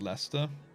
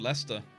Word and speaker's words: Leicester: How is it pronounced, Leicester? That's just how it's pronounced. I don't know. I didn't write the name. I didn't make it up. It's just called Leicester. It's like Worcester. Worcestershire. You know? It's like, it says Worcester, but it's just Worcester.